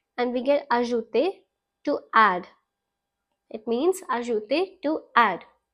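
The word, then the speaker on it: ajouté: We're going to add an accent on the E and we get ajouter, to add.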